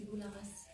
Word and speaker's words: Boularas: Le nom de famille, c'est Boularas. Le S, en fait, on le prononce.